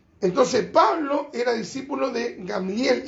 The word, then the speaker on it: Gamaliel: era discípulo de gamliel que la reina mana traduce gamaliel ya eh gamaliel se pronuncia gamliel y y gamliel era